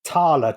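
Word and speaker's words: Thaler: middle european word uh the original pronunciation was tala t-h-a-l-e-r and the t-h changed to with d da tala dala tala dolla yeah and it was to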